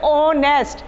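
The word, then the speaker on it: honest: है, कौन सा इसमें, जैसे अंग्रेजी में साइलेंट होता है, हम होता है ओनेस्ट, आप लिखते हैं एच से, आप बोलते हैं उसे ओनेस्ट, तो इस तरह का हमें हिंदी में भी ध्यान रखना है।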